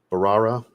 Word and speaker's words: Bharara: though here you go barara I believe is how you say it the proper way s Ence caramel dominant